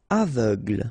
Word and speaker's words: aveugle: Aveugle, same thing, final E, not really present.